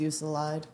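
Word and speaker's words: Euclid: Uklid. Uklid. All right, let's go. Ukid. I think it's Uclid. Uclid. Yeah.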